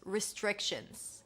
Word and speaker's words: restrictions: Ris, an R sound around your lips. It's a relaxed I. Ris, tre, another TR, ch sound. Restrictions. A sh sound, an N, and a Z.